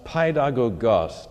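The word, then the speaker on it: παιδαγωγός: That word is translated from a Greek pronounced paidagogos. Didn't have time to say much about it last week. Paid, you recognize as in pediatrician, pedodontics, means a child. The second part, agogos, means a leader.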